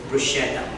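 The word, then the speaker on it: bruschetta: it's exactly BR so most of the English speakers pronounce it brusa Bretta or something like that but it is brushetta BR if you say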